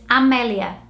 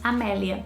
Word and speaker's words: Amelia: And in Portuguese, you would say it Amelia. I think in order to get the same sound as Amelia in British language, you'd probably have to spell it with an E in Portuguese. So if Amelia was spelled starting with an E, you would say in Portuguese Emilia, which sounds more similar than Amelia.